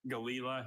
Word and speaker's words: galila: Galila has just the one pronunciation.